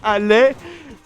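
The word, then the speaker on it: allaient: C'est chose qui est complètement conne parce que ça se prononce aller.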